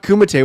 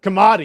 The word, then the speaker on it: Kumite: He called it not Kumite. What did he call it? Kamadi. Kamadi. Kamite or something? Kamite.